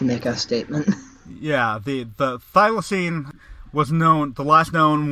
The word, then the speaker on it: thylacine: The thylacine, I believe, is how it's pronounced.